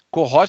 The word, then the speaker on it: cohort: Cohort se escreve com H, é cohort, com H, é um termo em inglês.